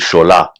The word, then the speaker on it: Shola: His name is Shola. That's a Yoruba name. You gotta put that twang on there.